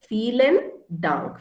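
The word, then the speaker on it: vielen Dank: say uh feeling dunk so v p is foul right for feelin dunk feelin dang a dunk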